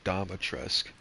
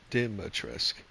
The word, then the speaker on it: Dimitrescu: Ethan has already called her Domitrescu, which in the marketing it was pronounced as Dimitrescu. Not Dom, it's Di, you know?